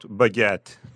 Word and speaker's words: baguette: How about baguette? That's a good one. It's pronounced almost like it looks. Baguette. With a little emphasis on the second syllable.